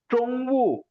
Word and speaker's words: 中午: ஹாஸ்பிட்டலுக்கு ஒரு வேர்டு பார்த்தோம் ஞாபகம் இருக்காங்க sir hospital even even hospital Eshan ட்ரொங்வு ஸோ ZH வரும்போது நம்ம DCHR ட்ரொங் நாக்க மடக்கி ப்ரொனவுன்ஸ் பண்ணுவோம் ட்ரொங்கு நாக்கு மடக்கணும் இல்லைன்னா அது CH சவுண்டுக்கு போயிடும் ட்ரொங்கு எஸ் ஸ்டில் இன்னும்